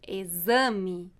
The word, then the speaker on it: exame: Z, como em exame.